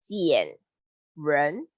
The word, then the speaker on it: 减人: It pronounced as 减, R-E-R-N, 减人.